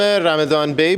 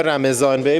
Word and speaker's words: رمضان بی: از هاشون به اسم رمدان بی بوده یا رمضان بی به تلفظ فارسی توی اواخر قرن هفدهم